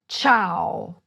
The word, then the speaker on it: ciao: You would say CIAO. It is written: C-I-A-O, but it is pronounced as if there were an "h" after the "c."